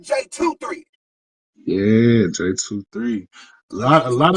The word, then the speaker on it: JaeTwoThree: I mean right right j23 not J2 for three but j23 yeah j23 lot a